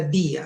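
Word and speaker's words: διά: Y hay una preposición que se pronuncia día, miren.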